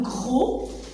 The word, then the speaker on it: gros: La taille d'un, gr avec O, ça donne gros. Le S, elle est muette.